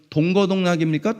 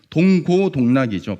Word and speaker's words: 동고동락: 여러분, 동거동락입니까? 동고동락입니까? 헷갈리죠? 동거동락. 예. 동고동락이죠. 발음이 비슷해서 헷갈리지만 동고동락입니다.